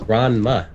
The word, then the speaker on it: Ranma: You mean Ramen? That's how you pronounce it. No, it's Ranma.